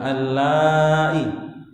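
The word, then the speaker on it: اللائي: Ya, panjang karena hamzah ketemu alif ketemu hamzah berarti mad wajib ya, panjang allai. Ya, walaupun kita tidak belajar tajwid tapi tetap bacanya panjang.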